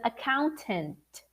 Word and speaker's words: accountant: is accounting ing but the professional is an accountant so let's repeat with me a accountant accountant account tent can you see that the